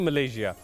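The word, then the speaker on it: Malaysia: Pronunciation क्या है इसकी एग्जैक्ट? कुछ लोग इसको मलेशिया बोलते हैं, कुछ इसको मलेशिया बोलते हैं। इट्स एक्चुअली मलेशिया जी बिल्कुल।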